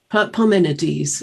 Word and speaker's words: Parmenides: Parmenides, yes, it's one of the early Greek philosophers.